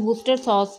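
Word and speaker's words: Worcester sauce: हूं वस्ट वूस्टर सॉस वूस्टर चाय सॉस भी कहते हैं इसको लेकिन वूस्टर सॉस वैसे प्रोनाउंस इसको ऐसे ही करते हैं और यह डार्क सोया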